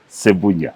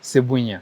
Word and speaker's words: Sebunya: How do I pronounce it? Sebunya. Sebunya.